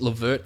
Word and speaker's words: LeVert: coming back makes um I feel like L verd is just definitely not the right pronunciation I know it is but it just does not feel like it's right at all feels like it's been um Ang sized I feel like it's